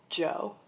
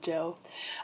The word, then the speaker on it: Djo: I think he pronounced his artist name as Joe. Like, it's just DJO, but I think he pronounced it Joe.